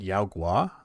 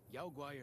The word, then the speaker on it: Yao guai: He said Yao Gua? I always pronounced it Yao Guai.